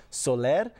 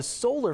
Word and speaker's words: Soler: new york state and if you notice the pronunciation of her middle name soler her father actually began calling her family the solar family to try and assimilate into the culture